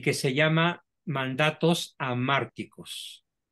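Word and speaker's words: hamárticos: Bueno, pues aquí tenemos una que es muy frecuente, desgraciadamente, en nuestra cultura y que se llama mandatos amárticos. Se escribe con H, amárticos, y la palabra amártico es de origen griego y se traduciría como mensajes mortíferos o mensajes de muerte.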